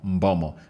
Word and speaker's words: Mbeumo: that ball into the back of the net, Mbomo.